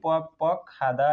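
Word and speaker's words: 뻑뻑하다: नुनी पक पक खाँदा, यो क हसँग ठोकिँदा खको उच्चारण हुन्छ, त्यही भएर खाँदा भन्ने है भन्दाखेरि नुनी पक पक खाँदा, नुनी पक पक खाँदा भनेको आँखा सुक्खा हुनु।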